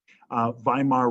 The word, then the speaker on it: Weimar: Weimar Republic. You spell it with a W, but you say V.